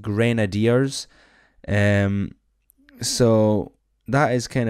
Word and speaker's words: Grenadiers: it is actually pronounced grenadiers um so that is kind of a a pain I I call it graders because they Chuck grenades but it is pronounced grenadiers so if you help